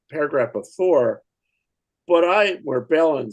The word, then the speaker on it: Balin: Balin's the older scholar within this old group. Um Balin, sorry. It's got to got to rhyme rhyme with Thorin.